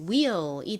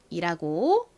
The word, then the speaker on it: wheel: L이 왔으니까 리을 소리 will이 되죠. 발음은요, 바퀴를 의미하는 단어입니다. 한국식으로는 보통 WH를 히읗으로 발음해서 wheel이라고 발음을 하지만 실제 발음은 will이라고 말씀드렸죠.